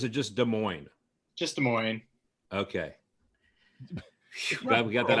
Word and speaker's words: Des Moines: Hey, how do you pronounce that? Is Des Moines or is it just Des Moines? Just Des Moines.